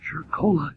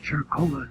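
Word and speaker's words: Cercola: our combat base in chircola italy that's c-e-r-c-o-l-a and pronounced like it has an agent at charcoal italy where i was taking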